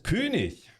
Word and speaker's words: König: So first, I will show you the German, the most German way you can pronounce it possible. The SMS König.